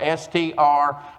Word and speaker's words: Strang: a little community called Strang. Have you ever heard of Strang, Oklahoma? You spell it S-T-R-A-N-G, like a piece of twine.